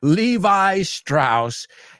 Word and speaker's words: Levi Strauss: I know you say Levi Strauss, but just telling you how we say Levi Strauss.